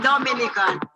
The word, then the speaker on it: Dominica: it's one punch time we call it dominican it's spelled d-o-m-i-n-i-c-e it is not dominican republic it